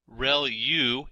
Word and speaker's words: ReLU: There are multiple hidden layers like convolution layer relu is how that is pronounced and that's the rectified linear unit that has to do with the activation function that's used.